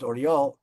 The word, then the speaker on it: Oryol: Um Most of the prisoners in the Oryol prison The city is pronounced Oryol.